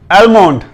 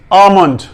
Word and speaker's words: almond: एल जो है इसमें ये साइलेंट है, एल साकिन है, साइलेंट है। AH आ, ठीक है। MUND मंड, आमंड, आमंड, ठीक है।